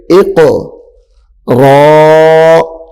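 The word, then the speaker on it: اقْرَأْ: اق، حمزہ قاف زیر اق، را حمزہ زبر را، جھٹکا دے کر پڑھیں گے، را حمزہ زبر را،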